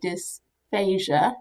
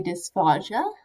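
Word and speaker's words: dysphagia: and it seems like the majority say dysphasia as in like Asia as a country some folks will say despacio sounds fancier but for the most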